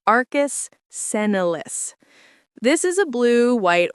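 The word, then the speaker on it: arcus senilis: It's called Arcus Senelis, pronounced Arcus Senolis.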